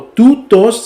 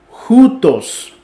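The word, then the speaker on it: οὗτος: Entonces, no sería tout o tutos, sino jutos. ¿Sí? Lo pueden ver aquí en el ejemplo. Normalmente sería toutos, que se pronuncia tutos, sino que sería joutos o jutos, poniendo aquí lo que es el espíritu rudo, formando como la J para jutos.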